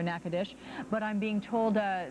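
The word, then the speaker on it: Nacogdoches: the area above which uh nackadish I'm being told I've been corrected my pronunciation there nakadish but I'm being told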